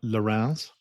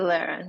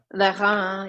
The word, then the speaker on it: Lérins: And my French pronunciation aside, these are the Lorrains? Yeah, the Ile de Lérins. Yeah. Okay. Lérins.